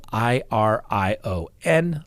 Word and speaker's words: Irion: on the docket naomi irion i know it's spelled i r i o n like iron i rhian lots of things but it's pronounced irion i know the i is a long e who knew anyway the